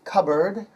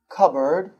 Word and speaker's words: cupboard: The word is cupboard. Cupboard. It's pronounced k-a-b-r-d. So you don't pronounce the P in the middle. No P.